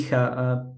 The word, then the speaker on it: Picha: Picha. Picha. Yeah, Sorry. Picha is one of the most vulgar words in the Czech language, so be aware of the pronunciation.